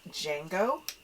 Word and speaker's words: Django: Traveling along with us is my dog, Django. I say my dog because he's my service dog, so he's with me all the time. The D is silent.